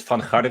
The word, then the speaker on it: Van: well um you very you pronounced my name very well in Dutch is fan I was born in